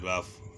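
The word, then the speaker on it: rough: जी एच कफ आर ओ यू जी एच रफ ई एन ओ यू जी एच इनफ एच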